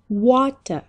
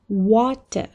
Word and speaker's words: water: Water. Water.